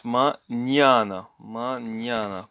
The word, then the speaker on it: mañana: So it's mañana. Palatalized. Mañana.